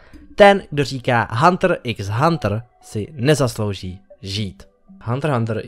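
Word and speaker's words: Hunter × Hunter: Ano, vyslovuje se to bez X. Ten, kdo říká Hunter x Hunter, si nezaslouží žít.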